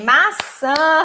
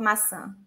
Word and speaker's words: maçã: Maçã, Rosália, muito bem. Yes, Yami, todo mundo. Mas muito cuidado com isso. M-A-C-A, just like this. Maca. Not maçã.